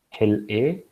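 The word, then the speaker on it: hilA: one of the genes that's required is called Hill a uh so Gene names would typically have three three letters and then a fourth letter and they're pronounced as hell a and which stands for hyper invasive Locus a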